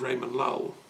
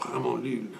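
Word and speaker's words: Ramon Llull: And I've always been in love with Catalan since I discovered the works of Raymond Lull, or Ramon Lull, as they pronounce it, the great Franciscan mystic from 13th century Mallorca.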